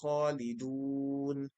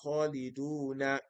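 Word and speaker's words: خَالِدُونَ: You won't say, "Lahum fīhā mā yashā'ūna khālidūna." No. You are not going to pronounce the harakah on the last letter. You are going to assume a temporary sukun on that letter. So, you say, "Khālidūn."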